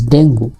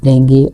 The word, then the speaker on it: dengue: Another topic you can select, that is dengue. Dengue actually, not the correct pronunciation, it is dengue.